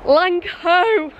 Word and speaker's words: Langho: Just got off 150.003 and I'm now at, rhymes with mango, Lang, it's missing the PE, Langho.